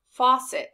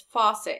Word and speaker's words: faucet: you think this is faucet the key word is faucet and the sound we've learned is off so whenever we see